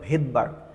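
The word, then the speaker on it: Svedberg: বাট এটার বাংলা তুমি যখন উচ্চারণ করবা মানে ইংলিশে যখন স্পেলিং আসবা তখন এটা দেখবা ভেদবার। এইস এর উচ্চারণটা এখানে কিন্তু হচ্ছে না। তো ভেদবার এই রাইবোজোমের একক এবং উপ এককগুলো আবিষ্কার করছিল।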